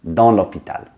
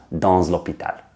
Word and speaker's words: dans l'hôpital: But liaisons are tricky, some are optional, some are mandatory. But in this specific case with dans, this is how you do it. That's the mistake in that sentence. Dans l'hôpital, not dans l'hôpital. Sounds really strange.